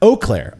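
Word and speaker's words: Eau Claire: names of the beer the city I live in is oir French for Clear Water anyways the a makes the long o sound oakair oh I've been saying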